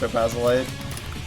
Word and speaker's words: Topazolite: I'm not too big on a lot of Topazolite music, which I only recently learned it's pronounced Topazolite.